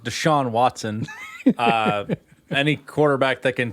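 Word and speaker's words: Deshaun Watson: do well this year but you do have desean watson which is gonna be a solid quarterback obviously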